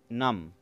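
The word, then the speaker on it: numb: नम, इस वर्ड में B silent है, इसको हम प्रोनाउंस करते हैं नम.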